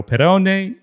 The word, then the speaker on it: Perrone: And don't forget the smile, Perrone and Giorgio Bargiani.